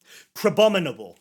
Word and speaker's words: Crabominable: I know how to pronounce this, I promise. Crabominable.